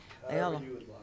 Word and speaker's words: Loyola: Loyola.